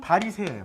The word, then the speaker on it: 바리새: 구분이 곧 분리자아요 그래서 파리 사이오스 그래 파리 사이오스이 파리 사이오스 이게 헬라 발음이고 한문 발음으로 하면 바리새 바리새 한문 발음으로 우리는 바리새 부르잖아요 그러니까 바리새 사람들은 예수가